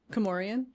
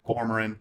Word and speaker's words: Cormoran: Comorian. Oh yeah. So I'm sorry. It's Cormoran. Cormoran.